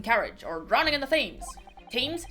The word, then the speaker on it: Thames: By falling under a passing carriage, or drowning in the Thames. Thames? I think it's pronounced Thames.